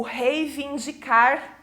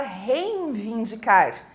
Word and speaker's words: reivindicar: depois do o o reivindicar que também né as pessoas costumam escrever e falar reinvindicar e não tem esse n ali né só tem o i retrógrado também né A